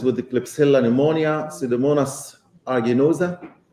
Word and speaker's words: aeruginosa: the Klebsiella pneumonia, Pseudomonas aeruginosa. I know some people pronounce it aeruginosa, something like this, Salmonella, etc., even avian pathogenic E.